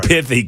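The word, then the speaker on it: pithy: I said pathy comments. That's an actual word. I'm not mispronouncing it. You I thought perhaps you had a lisp. Yeah, I wasn't saying pissy comments. I was saying piffy comments.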